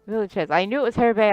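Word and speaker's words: Villechaize: Yeah, Hervé Villages. Villachez.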